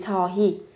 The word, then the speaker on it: 저희: Còn khi mà các bạn muốn thể hiện cái sự khiêm tốn hơn thì các bạn dùng với 저희. Viết là hơi nhưng mà phát âm là hi.